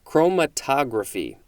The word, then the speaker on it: chromatography: hard chromatogra chromatography again it's always about where is the emphasis what syllable is emphasized chromatogra chromatography there we go noun